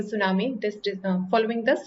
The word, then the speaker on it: tsunami: So appeal for donations following the tsunami disaster, and here T is silent in tsunami.